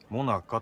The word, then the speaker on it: 最中: もなかっでも最中って書いてあるモナカと読むんあああ最中っていう